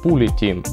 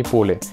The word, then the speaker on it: POOLiTM: Название компании Pooly Team, а не Pooly, как почему-то произносят многие люди.